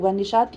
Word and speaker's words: نشاط: گیا ہے، یہ 'تی' نہیں ہوگا، یہ 'ٹو'، 'نشاط' ہوگا — یہ صحیح ہے، ٹھیک ہے۔ 'ساز' کا ہجے سعود سے نہیں ہوگا، دیکھا جائے گا۔